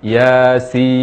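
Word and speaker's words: يس: dengan huruf nun jadi cara membaca yang benar kata-kata Yasin adalah Yasin Yasin ya dua harakat dan sip nama lekat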